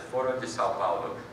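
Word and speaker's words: Foro de São Paulo: It's the Foro de Sao Paulo, is how you say it in Portuguese.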